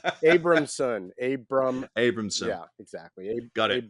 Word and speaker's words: Abrahamson: I mean, who is Abrahamson? Abramson.